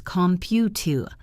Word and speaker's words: computer: The word computer is computer. The last syllable is a schwa.